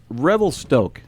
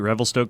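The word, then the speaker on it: Revelstoke: really really love and the other is from Revel Stoke did I say that right you got it right Revel Stoke coffee yeah all right all right I know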